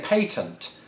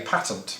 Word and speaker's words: patent: to eat it and americans of course say patent which sounds like something you put in a sandwich whereas patent sounds like the name of a dramatic novel so uh which one